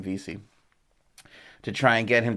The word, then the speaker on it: Vesey: to Jimmy VC by Vesey Street I call it Vesey Street but I think we pronounce his name VC to try and get